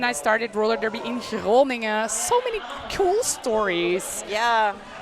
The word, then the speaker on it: Groningen: Groningen? Oh, yeah. That's not easy to pronounce. But I'm Flemish, so I say Groningen, while the Dutch will say Groningen.